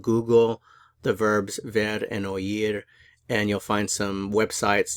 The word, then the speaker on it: oír: as a diphthong but since the I is accented we actually pronounce the O and the i in separate syllables so that's why you